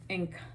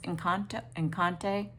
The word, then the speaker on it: Encanto: And I tell her this is the Encanto, the Disney movie with all the little Spanish girls. Encante. I said it wrong.